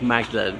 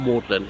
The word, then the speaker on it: Magdalene: I believe the church is actually pronounced Magdalene, not Magdalene, unlike the college.